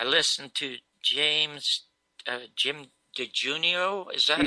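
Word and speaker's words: DiEugenio: weeks ago, I listened to James uh Jim De Junio. Is that how you pronounce it? Yeah. Jim Eugenio.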